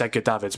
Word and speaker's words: Edgar Davids: Yeah, I pronounced it Edgar Davids. Yeah. Um but no, it's Edgar Davids.